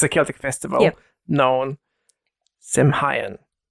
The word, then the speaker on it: Samhain: It's a Celtic festival known Samhain. Some. I think so. Pronunciation. Sound. Is that correct? Sound. Sound. Okay. Sound. So it's sound.